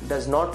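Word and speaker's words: doesn't: है तो डज नॉट, डज नॉट को शॉर्ट में बोलते हैं डजन। क्या बोलते हैं, डजन। टी का साउंड नहीं निकालते हैं, टी साइलेंट रहता है, डजन।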